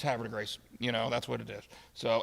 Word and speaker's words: Havre de Grace: And, of course, that's not the proper French pronunciation. Havre de Grace, whatever, I don't know. But, locals, it's Havre de Grace.